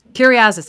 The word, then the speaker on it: Kyriazis: Kyriazis. I would totally have butchered that.